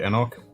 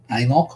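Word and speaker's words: anCnoc: Anok, I think it's pronounced. It's Anok.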